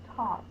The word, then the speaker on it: taught: g h saying R we know that Au does say R we just have the GH that is silent so the first one we'll do with that is talk I taught you the correct way